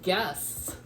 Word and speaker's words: guess: to protect that g so it stays the hard sound G because without that U it has to change to the J sound so I thought that